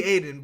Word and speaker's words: Aiden: of Iden Aiden you mean it should be Aiden but they in the game they pronounce it Iden but with the exception of a couple times where they're like where they call him Aiden like it should be um and the director